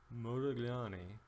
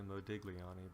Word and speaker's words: Modigliani: Miller by the way it's almost impossible for an American to correctly pronounce Franco's name its Modigliani and that GL sound is only truly correctly spoken by an ad of Italian speakers so don't feel bad but just don't call me Modigliani because that's far from